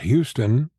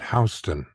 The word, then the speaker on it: Houston: The street that separates Soho from Greenwich Village is not Houston, which is how it's spelled, Right. but Houston. Houston.